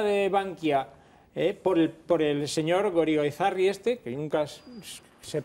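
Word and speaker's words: Goirigolzarri: Nos tenemos que enterar de la historia de Bankia por el señor Gorigoizarri que nunca sé pronunciar bien.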